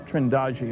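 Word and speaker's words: Trindade: of the picture and here's a sequence from trindad trendi I'm told it's pronounced 600 mil east of the coast of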